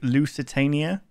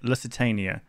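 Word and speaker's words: Lusitania: I mistake this one for the L Lucitania I think that's how you say it Lucitania um so yeah I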